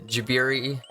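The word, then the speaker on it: ジブリ: It's more pronounced like a J, but I'm bad with English in general.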